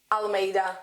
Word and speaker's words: Almeida: friend uh Miss how do you say your surname uh I'll or Alameda okay I was I'm